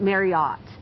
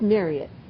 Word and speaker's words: Marriott: It's not Marriott. We're saying it wrong. Marriott? It's Marriott. The family's name is Marriott, not Marriott.